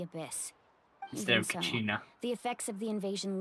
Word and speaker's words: Kachina: I forgot how you pronounced her name. Cause I know it's a K, but I keep hearing Kanich. Kachina? Kachina, there you go.